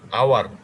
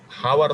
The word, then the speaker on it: hour: হ্যাঁ হ্যাঁ, আওয়ার উচ্চারণ, হাওয়ার তো হচ্ছে না, আওয়ার হবে।